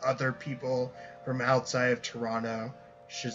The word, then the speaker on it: Toronto: people from outside of Toronto should say I mean my Southern disposition makes me want to say Toronto without the T Toronto um but I can